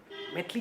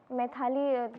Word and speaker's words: मैथिली: मैथाली सब लोग हां सब लोग मुझे मैथाली ही प्रोनाउंस करते हैं। लेकिन मैथिली मेरा नाम है।